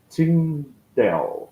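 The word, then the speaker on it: Tyndale: que é o William Tindell. É isso mesmo, William Tindell, né? Escreve Tindal, mas produzia Tindel, né?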